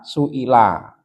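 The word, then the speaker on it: سُئِلَ: Nah dari hamzahnya itu sudah kelihatan itu mesti bacanya majhul. Kalau saala kan hamzahnya di atas alif ini seperti itu berarti kasrah itu suila wasuilan Nabiyu shallallahu alaihi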